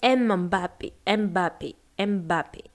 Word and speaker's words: Mbappé: vous entendez vous entendez beaucoup des Français prononcer Mbappé Mbappé Mbappé alors parce que tout simplement ils sont Fran ce sont des Français donc ils connaissent pas ce cette consonne spéciale c'est-à-dire c'est une succession des consonnes généralement il y en